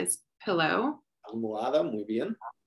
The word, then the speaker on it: almohada: La almohada is pillow. Almohada, muy bien. Don't pronounce the H there. Almohada.